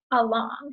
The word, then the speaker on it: along: So if you notice the word right here, along, the A makes the sound. That's one of our syllables. Long is the second syllable. So the second syllable long is stressed. The unstressed syllable is the A. So you say long. So we're stressing that second syllable long.